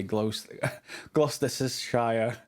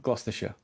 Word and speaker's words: Gloucestershire: People often try and say Gloucestershire or something similar, but no, Gloucestershire.